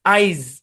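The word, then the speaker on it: eyes: দেখেন খেয়াল করেন, যেমন এটা দেখেন আইস, আইজ, আইজ মানে চোখ, মানে একাধিক চোখ আর কি। তো এটাকে যদি আপনি এসটাকে জেড উচ্চারণ না করেন তাহলে আইস মনে হবে, আইস মানে বরফ।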